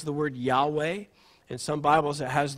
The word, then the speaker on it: Yahweh: write the name of God, which we would pronounce Yahweh.